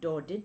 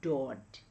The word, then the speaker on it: Daudet: Now the last lesson is a story written by Alphonse Daudet. So he is a French novelist. So when we pronounce Daudet, it is not Daudet but it is Daudet.